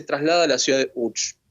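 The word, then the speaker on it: Łódź: Y en 1945, en marzo, se traslada a la ciudad de Uch. Es lo que muchas veces leemos como Lots, pero en polaco se pronuncia UCH.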